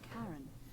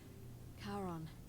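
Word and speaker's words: Charon: It's just as you described it, only your pronunciation is a little off. The name you heard wasn't Karen. It was C H A R O N. As in Kon, the fairyman of the dead. Karon, who in exchange for the right coin, helps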